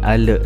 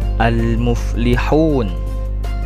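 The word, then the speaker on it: المفلحون: artinya mencegah almuflihun almuflihun membacanya Jangan Ale tapi almuflihun almuflihun yang artinya orang-orang yang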